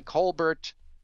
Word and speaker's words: Colbert: about this by stephen colbert and i know they say colbert i don't pronounce it that way it's an irish name asked about it she